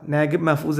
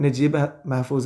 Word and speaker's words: Naguib Mahfouz: നന്നാവുക നജീബ് എന്നായിരിക്കും കാരണം അത് ആ ഒരു ഭാഷയുമായിട്ട് അടുത്ത് കിടക്കുന്ന ഉച്ചാരണം അതാണ് അവരുടെ പിന്നെ ലാംഗ്വേജ് ആയിട്ട് അടുത്തു കിടക്കുന്ന ഉച്ചാരണം നജീബ് മെഹ്ഫൂസ് എന്നുള്ളതാണ് ഓക്കേ നമുക്ക് അതിലേക്ക്